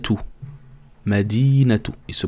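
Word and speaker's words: مدينة: peux dire madina mais si tu fais la liaison avec le prochain mots tu devrais dire madinatou par exemple madinatou veut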